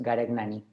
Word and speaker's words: Garegnani: My last name is pronounced Gaticnani.